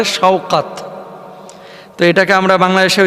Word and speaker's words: শওকাত: হয়েছে সাকাত গাজী তো বাংলা ভাষাভাষীরা আমরা আসলে উচ্চারণ ভুল করে থাকি নামটা সাকাত হয় না হইতে পারে শওকাত এটাকে আমরা বাংলাদেশে যে